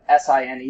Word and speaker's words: sine: Okay, I know S-I-N-E is a weird combination of letters for us, but this is sine, just pronounced just like S-I-G-N, right?